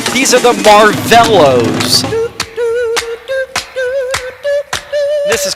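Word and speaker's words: Marvelows: One of those group names that was so mispronounced by so many disc jockeys, but here's the correct pronunciation. These are the Marvellos.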